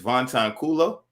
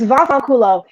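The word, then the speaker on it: vaffanculo: want to mispronounce it is van tan coolo va far culo it's vasakulo it means you in italian wow all right like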